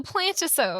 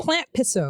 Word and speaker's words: Plantpisode: This is our Plantpisode, too. Oh my gosh, we didn't even talk. Plantpisode. Oh, she said it. Yeah, Plantpisode is right. Is it Plantpisode? It's a Plantisode. No. Plantpisode.